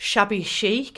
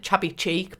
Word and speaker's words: shabby chic: style of it it's definitely very like shabby chic is how you pronounce it because I also wanna pronounce it chubby cheek but and number 14